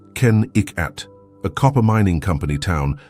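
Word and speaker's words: Kennecott: This was Kakott, pronounced Ken Iikat, a copper mining company town that boomed in the early 1900s.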